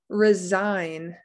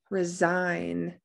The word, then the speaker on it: resign: n i g n whenever you see that that g is silent brought brought i hear